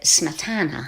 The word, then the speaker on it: Smetana: I found differing pronunciations of his name. I always referred to him as Smetana, but when I talked to a friend who's Czech, they said Smetana.